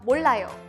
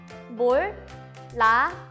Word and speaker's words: 몰라요: Let's first practice the pronunciation of 몰라요. 몰라요. 몰라요.